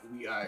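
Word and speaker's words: WEi: Let's talk about We.I, because first of all, I learned that We.I is pronounced We.I literally today.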